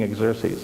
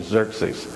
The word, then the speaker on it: Xerxes: in the Empire who want to assassinate King exers Xerxes let me say it I have some so many different ways of pronouncing it none of them are right until